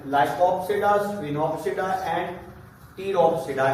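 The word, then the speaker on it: Pteropsida: साइलोप्सिडा, इसमें P silent, लाइकोप्सिडा, स्फिनोप्सिडा एंड टीरोप्सिडा, इसमें भी पी साइलेंट।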